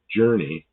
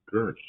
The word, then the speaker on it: gurney: Gurney. Yeah, not journey. Like g i r. It's g u r anyway. Gurney.